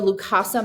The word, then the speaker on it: Lukasa: Okay, so this is the Lukasa memory board.